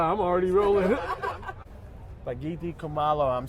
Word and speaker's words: Kumalo: And how do you pronounce your last name? I want to be Kumalo. Kumalo. So I've Yeah. been saying it kind of right. Yeah, Kumalo, you've been saying it right.